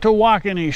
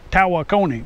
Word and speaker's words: Tawakoni: I'm out here at Lake Tawakoni State Park. It's in Texas. It's also been called Lake Tawakoni, but that's not the correct pronunciation.